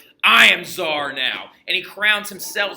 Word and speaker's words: Tsar: I am Tsar now.